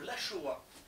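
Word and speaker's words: Laxoa: Le Lachoa, qui s'écrit L-A-X-O-A, à ne pas confondre avec Achoa, qui est un plat de viande basque. Voilà. Alors, le X en basque, c'est che.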